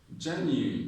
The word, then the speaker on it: genuine: Then, how do you pronounce this? Genuine, not genuine. When you say genuine, you're stressing in. Genuine, okay? The stress is on genuine.